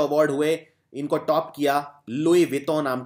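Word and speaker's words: Louis Vuitton: नाम की कंपनी ने कई लोग इसे प्रोनाउंस करते हैं लुईस टोन लुई टोन नहीं इसको यह फ्रेंच ब्रांड है फ्रांस का ब्रांड है इसको बोलते हैं लुई वितों कपड़ों की ये कपड़ों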